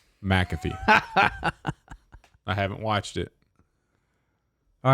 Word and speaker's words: McAfee: You do want to stress on the first syllable. McAfee.